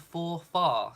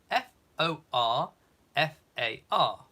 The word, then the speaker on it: Forfar: he's been given the Earl of for far spelled f o r f a r for far and I think that's